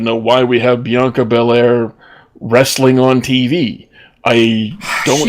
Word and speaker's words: Belair: I know that it's Bel Air, and there is a pause between the bell and the air, but the commentators, no matter which one it is, keeps calling her Blanca Blair, Blanca Blair, Blanca Blair. It's like they're trying to make every syllable in her name one syllable.